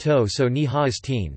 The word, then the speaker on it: Totsani Hastian: There was an important Navajo leader named Totsani Hastian, pronounced To-so-ni-ha-is-teen, Navajo for Man of the Big Water Clan.